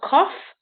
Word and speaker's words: cough: So you got cough, which is the f sound.